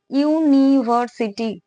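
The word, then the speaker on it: University: এখানে আমি আবারও বলছি, কোন ওয়ার্ড, এই যে ইউনিভার্সিটি একটা ওয়ার্ড, এই ইউনিভার্সিটি উচ্চারণ করো, ইউনিভার্সিটি। এখানে ভাওয়েল আছে ঠিকই, কিন্তু উচ্চারণ করতে গেলে প্রথমে আমাকে ইউ বলতে হচ্ছে, তাই তো।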